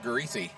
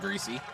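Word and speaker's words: Griese: And a payoff pitch coming from TJ Greasesy. In case you're wondering, yes, it is spelled exactly like the former NFL quarterbacks, Bob and Brian Greasie.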